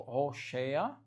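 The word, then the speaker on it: הושע: E ele falou e e Oséias, que se pronuncia lá em hebraico, tipo Rochéa, eh, significa salvação ou ele salva.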